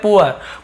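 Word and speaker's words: poor: में अब भाई यहां पर भी एक प्रॉब्लम आती है जैसे हमने लिखा पी डबल ओ आर इसे हम क्या पढ़ते हैं पूर नहीं पढ़ते हम इसे पढ़ते हैं पूर क्या पढ़ते हैं पुअर पुअर यानी गरीब ठीक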